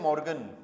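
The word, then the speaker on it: Morgen: Verb आती है ना टुमारो को बोलते हैं मॉर्गन मॉर्निंग को भी मॉ्गन बोलते हैं टुमारो को भी मॉ्गन बोलते हैं स्पेलिंग भी सेम होती है लेकिन लेकिन यहां पर देखो मॉर्निंग का एम कैपिटल मिलेगा हमेशा।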